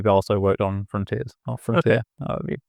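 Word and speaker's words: Frontière(s): Or Frontier. However you say that one. Frontier, I think, because but the S is silent. Probably.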